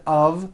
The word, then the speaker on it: of: spelled with an F we pronounce the word of with a voice v I know this sounds